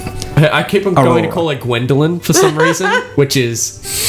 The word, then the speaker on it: Gwhendoughlent: might actually air properly, here is how you spell Newman's mother's name. GWHENDOUGHLENT. Gwendolyn. the T is silent.